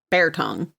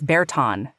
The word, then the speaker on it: Bear Tongue: Bear Tongue. Tongue, T-O-N-G-U-E? Mm-hmm. Oh, I didn't know that. I always heard it as Berton. No, it's Bear Tongue.